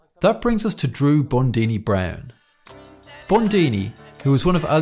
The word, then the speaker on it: Bundini: I'm called Bundini. Rhymes with Houdini.